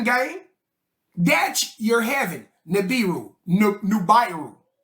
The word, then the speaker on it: Nibiru: Nubiru. That's how you're supposed to pronounce it. Nubiru. You know how I know? That's where we get the name Nubia from.